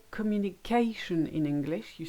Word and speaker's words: communication: So when you say communication in English, you stress the A. In French, you won't put any stress on any part of the word. You just say communication becomes communication. Electricity becomes électricité.